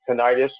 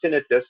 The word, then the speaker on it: tinnitus: people will develop um some tinnitus or tinnitus you could flip a coin on that uh pronunciation which is a ringing